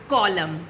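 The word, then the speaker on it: column: जब एम और एन साथ में आते हैं तो एम के बाद एन हो जाता है साइलेंट, जैसे ऑटम या कॉलम।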